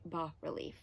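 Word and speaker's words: bas-relief: say it um but i do believe you're supposed to say ba relief it's fancy um ba is just french for low and relief means you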